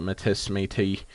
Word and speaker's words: Métis: want to call it, Métis, stuff like that. We pronounce it Métis here, which was a it's